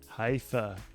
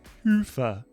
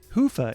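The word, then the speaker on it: Hyvä: to Commerce is sponsored by hia or as the Europeans say hoofa or the right way to say it hufa is rapidly becoming the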